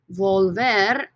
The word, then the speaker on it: volver: infinitive verb is volver volver this o in the stem right volver two syllables when we take away